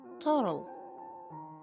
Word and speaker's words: turtle: تورل. تورل. حرف التاء لا تلفظ.